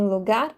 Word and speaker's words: lugar: sílaba mais forte então em lugar como eu pronunciei o gar eu enfatizo o Gar e o mesmo acontece